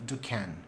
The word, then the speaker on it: Duquesne: It was described in 1844 by a French botanist, Joseph Duquesne.